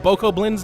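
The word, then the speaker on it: Bokoblin: to i also know these guys are named boko blinds now i kept thinking like the b and the k syllable mixed up but i don't even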